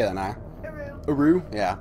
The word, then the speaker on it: Uru: Next up is another Myst game, so can't say much about it, but I guess it's Uru? How do you say that, Naya? Uru? Yeah, Uru Ages Beyond Myst.